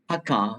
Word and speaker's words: Dhaka: How to pronounce it? Dhaka.